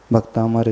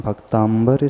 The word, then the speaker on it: भक्तामर: उच्चारण नहीं करते है इस स्तोत्र का नाम भक्तांबर स्तोत्र नहीं स्तोत्र का नाम भक्तामर स्तोत्र को मिलकर की या